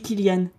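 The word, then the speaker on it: Cillian: Murphy ça me but est-ce qu'on dit Kanan Murphy je sais qu'il a une bonne façon une mauvaise façon de le prononcer je sais jamais la quelle c'estçante c'est possible oui monsieur c'est les prénom attends je vais taper Kyan Murphy say his name ah c'est lui il doit être il doit savoir comment dire son nom il dit que ça se dit Kilian très bien merci tu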